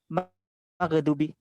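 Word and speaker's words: مغضوب: Ini kalau bacanya maghdubi berarti itu ada apa? Ada qalqalahnya, qalqalah. Iya, kayak qalqalah itu. Ada itu kapnya. Coba diulang tadi. Maghdubi.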